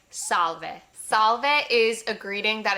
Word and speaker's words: salve: Of course, salve comes from salve in Latin. It's the exact same word with just the V pronounced.